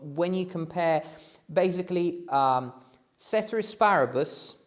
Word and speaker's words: ceteris paribus: you compare basically um cetera asparabus is how you say ceteris paribus maybe um with all the